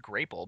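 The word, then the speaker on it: Grāpple: It has a little thing underneath that's like, "Pronounce it like grape." And it's spelled out and it also tastes like a grape. Yeah. Now it makes sense that it would be pronounced grapel because they want to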